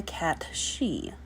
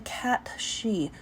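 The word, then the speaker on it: cat sìth: I'm curious, have any of you heard of the cat she? That is spelled S-I-T-H.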